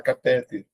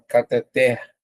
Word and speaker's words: cateter: No dia a dia o pessoal costuma falar catéter. Se fosse catéter teria um acento, né? Porque seria uma paroxítora terminada em R. Porém você vai notar que não tem acento. A separação fica assim. E a sílaba tônica, ó, cateter aqui, ó. Última sílaba tônica, então, oxítona.